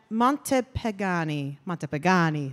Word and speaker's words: Montepagani: Montepagani, there it is. He had me say it like 50 times. It's very fun to say.